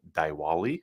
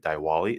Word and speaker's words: Diwali: holiday in India celebrated called dwali I believe is how you pronounce that so over the weekend millions of people in India celebrated Diwali and set a world